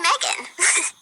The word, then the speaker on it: M3GAN: Android see Megan and the E and Megan is spelled with a three so it's model three